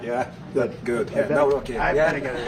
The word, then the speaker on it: Nawrocki: Yeah, Nawrocki.